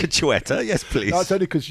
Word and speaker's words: Xueta: So we're heading to Majorca or Mallorca, which is pronounced Majorca. And there we'll be learning all about the... How do you say it? Xueta. Xueta.